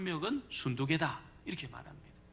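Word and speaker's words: 순두게: 한 명은 요디하고 한 명은 순두개다 이렇게 말합니다. 그래서 어떤 분이 이 발음을 잘못해가지고 순두부로 읽는 분이 많아요.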